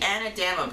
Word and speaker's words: anadama: to do episode 2 the anadama bread which it turns out is the correct way to say it i it is a